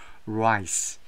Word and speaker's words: rice: 자, 우리가 발음을 조심해야 돼요. R 사운드니까. 발음을 만약에 아, 엘 사운드로 하면 에, 큰일 나죠. 이거는 아, 이 해충, 기생충, 아, 이를 가리켜요. 라이스 하면 여기서 라이스 발음을 잘해야 됩니다.